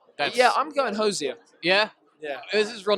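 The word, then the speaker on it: Hozier: to say his name right yeah I'm going hosia yeah yeah is this real name Andrew right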